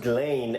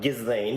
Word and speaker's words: Ghislaine: all about Ghislaine Maxwell, who I realized while filming this was actually pronounced Ghislaine and not Ghislaine, the way I was calling it.